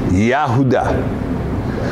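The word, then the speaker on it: יהודה: One of his sons is, we call him Judah. But in the Hebrew, Yahuda. Yod he vav he?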